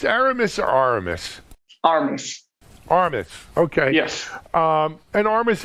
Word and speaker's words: Armis: you are from our aramis or is it pronounced aramis or aramis armis okay yes um and armis is a you